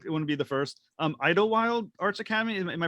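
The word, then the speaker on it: Idyllwild Arts Academy: pronounce it wrong, it wouldn't be the first, Idlewild Arts Academy. Am I pronouncing that correctly?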